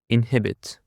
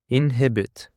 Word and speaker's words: inhibit: And now for another word, we have inhibit. Inhibit. The stress is on the second syllable, inhibit.